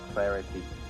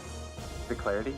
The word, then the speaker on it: Celerity: So, Celerity? Celerity. Celerity? I don't know. Celerity. There it is. The clarity? Is it Celerity. C-E-L-E? Really? E-L-E, celerity. Oh, celerity. Thank you.